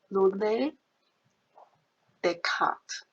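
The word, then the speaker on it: René Descartes: So we use this name because we follow the French mathematician, and the name, that's how we pronounce the French name. Rene Descartes.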